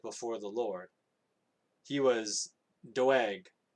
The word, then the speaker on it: Doeg: He was Doeg. Dweg. That's how you pronounce it, I think.